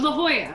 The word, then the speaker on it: La Jolla: i can never pronounce this i can't ever pronounce the name of this this town it looks like la jolla oh la jolla that's it okay all right oh yeah that's